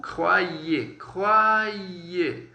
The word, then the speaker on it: croyez: Lembrando que o OI e o OY eles vão ter um som aí de UA, tá bom? Então, croyez e croire.